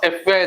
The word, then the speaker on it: FBI: the role of dash FBI agent in Quantanico F A रे आरंभ होची an FBI agent जदि F लिखा है छि consonant sound किंतु लेटर टा जो प्रोनाउंसिएशन टा vowel sound होची an FBI agent an